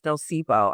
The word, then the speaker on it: Nosipho: It's pronounced Miss Nosipo. I have family in South Africa, so that's my Zulu name.